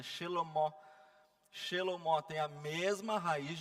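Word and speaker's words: שלמה: O rei Salomão, da mesma forma, que o nome dele eu não sei pronunciar, tá? Mas é Shelomó.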